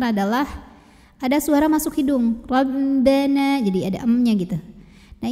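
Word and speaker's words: ربنا: Ra dibunyikan secara tafkhim karena baris ra-nya fathah ya, jadi barisnya di atas. Maka bacanya ditebalkan. Bagaimana cara menebalkannya? Dengan mengangkat pangkal lidah kita atau bagian paling belakang dari lidah kita. Ro, ro, ya, bunyinya tebal lebih mengisi rongga mulut kita.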